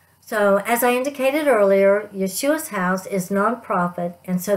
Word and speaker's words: Yeshua: to share with you about my favorite nonprofit yeshua's house ye-es 8ua it is pronounced Yeshua Yeshua is the Hebrew name for Jesus while